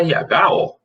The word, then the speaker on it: rho: Na realidade, quando a gente vai, o Rho mesmo é R-H-O, mas a gente pronuncia Rho, né?